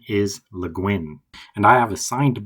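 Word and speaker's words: Le Guin: The correct pronunciation is Luin and I have a signed book by her written to her neighbor which is really nice.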